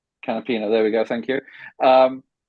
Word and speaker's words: Canapino: the Brazilian rookie who I'm afraid I can't pronounce his name. Agustin Canapino. Canapino, there we go.